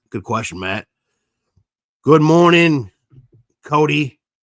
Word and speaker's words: Cody: Good morning, Cody. We Vinny and I were calling you, and you're like, no, it's Cody.